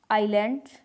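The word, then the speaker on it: island: जब आई के बाद आई, एस और या फिर आई और एल के बीच में हो तब जो आई है वो एस है जो वो साइलेंट रहेगा। जैसे आइल, आइलैंड। आइलैंड और जो आइल है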